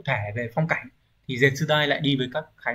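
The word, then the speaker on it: 絶大: Từ này được đọc là Zetsudai.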